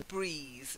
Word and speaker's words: breath: one is from to breathe so breathing a breath the noun is always that earth sound a breath to take a breath take a deep breath